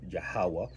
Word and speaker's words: Yahawah: And this is why we call on um Yahawah because this is the pronunciation in the phonetic language um and the proper pronunciation and calling on the father.